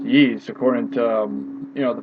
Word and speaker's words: Ys: I know some people call it Ys or Yees, but it's, you know, it's pronounced Yees according to you know, the voiceover in the beginning of Y's Origin.